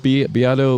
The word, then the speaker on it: Beato: The guy, that was my observation, and the guy I just saw on the work, it's pronounced Beato, Rick Beato.